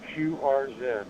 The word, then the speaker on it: QRZ: Are you familiar with QRZ, the letter Q? Uh, Quebec Romeo Zulu. three letters. Quebec Romeo Zulu. It's usually pronounced QR Z.